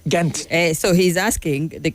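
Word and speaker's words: Ghent: And that's why we write an H in English behind it.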